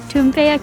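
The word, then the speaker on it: Toompea: world that I mentioned earlier is actually called chumpea Castle in it say that again and let's just a pronunciation tumpea castle and it houses uh the house of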